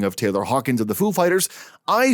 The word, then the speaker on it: Foo Fighters: with that situation that i pronounced it foo fighters and not fuficter somehow it sounds dumb